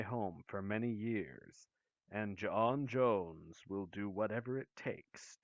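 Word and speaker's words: J'onn J'onzz: has been my home for many years and john jones will do whatever it takes to protect it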